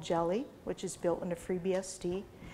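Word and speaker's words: GELI: is use something called jelly which is built into freebsd i actually had a question last week where somebody asked about how cryptographically secure jelly is so jelly is spelt g-e-l-i and if you do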